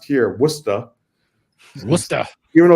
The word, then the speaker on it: Worcester: years I've been in Worcester Massachusetts which is pronounced here wora wer even though it's spelled like Worchester like